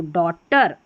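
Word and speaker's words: daughter: Number seven पर है ए यू जी एच। इसको अ पढ़ते हैं। देखिए ए यू जी एच अ तो डॉटर डॉटर हो गया।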